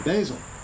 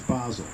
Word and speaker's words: basil: They said the pronunciation is basil. Well, I figured they were full of bones. So I looked it up in the dictionary, and basil is the accepted first pronunciation. Basil is what we all say. But, if you want to seem really arrogant and snotty, you say, oh, that's basil.